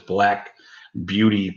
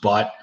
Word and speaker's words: Black Butte: I believe that's the way you properly announce it, is Black Beauty Porter. It's not pronounced butt. It looks like butt.